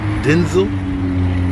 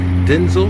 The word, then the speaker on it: Denzel: you know that denzel washington's name is actually pronounced denzel denzel he said his father's name was denzel technically